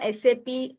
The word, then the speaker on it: SAP: Uh so SAP is not a word SAP or is a